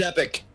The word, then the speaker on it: epoch: It is Epic. It is Epic. Okay, there you go. I just Epic. And Yeah, the Google pronounce guy is really excited about it.